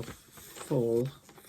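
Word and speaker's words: Fjäll: i can't pronounce that f j a double l full full with a silent j and this is from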